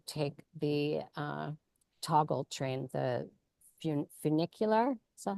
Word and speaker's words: funicular: I walked about halfway and then I decided to take the toggle train, the funicular. Is that how you say it in English? Funiculario?